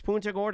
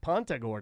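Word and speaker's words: Punta Gorda: phonetically pun G yeah it's pun Gort it's not Pont Gord I don't she's saying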